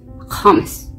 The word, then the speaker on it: hummus: Hummus, that's how you say it in Hebrew.